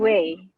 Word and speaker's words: Wei: How do I pronounce it? Way.